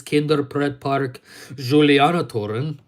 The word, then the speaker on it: Kinderpretpark Julianatoren: And anyways, like I said, I'm not planning on being filmed within the theme park known as Kinderpretpark Julianatoren, which is how it's correctly pronounced.